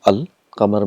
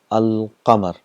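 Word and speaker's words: القمر: For example, we have qamar, and we got this definite article al. Qamar means moon. So when you get al plus qamar, it becomes al qamar. So all the letters are pronounced clearly, al qamar.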